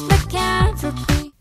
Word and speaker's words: lycanthropy: Professor Lupin and his lycanthropy, which I remember how to pronounce now because of the song She-Wolf. Remember that Shakira song? This is lycanthropy.